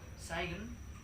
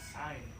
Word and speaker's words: sign: we don't we don't we don't say sing psych saigon but we just say sign you know so which